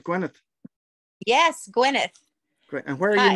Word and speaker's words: Gwyneth: Pronouncing it right, Gwyneth. Yes, Gwyneth.